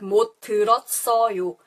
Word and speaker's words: 못 들었어요: It doesn't have the strong T sound, but rather it sounds like a S. So this S goes to the next spelling the syllable and it makes a S sound. So it sounds more like 못 들었어요, 써요 with a S.